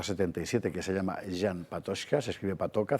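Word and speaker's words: Patočka: de la carta 77 que se llama Jan Patoshka, se escribe Patoca, c con el el Sí, con el sonidoílico, ya, Patoca, que lo explica muy bien, Eh, en fin.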